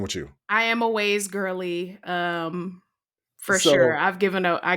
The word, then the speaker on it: Waze: Waze. Can you spell that? WAZE. Okay. Because I heard waves. No, I didn't put no V in there.